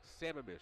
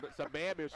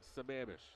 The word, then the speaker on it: Sammamish: Ron perro is from he gave me the correct procrastination Sammamish salmon I butchered it last time I said it's a man missed or something crazy and uh I told him he laughed at me he said yeah it's Sammamish so um but yeah